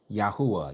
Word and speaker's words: Yahweh: Yahwa is the way it's pronounced. Yahweh.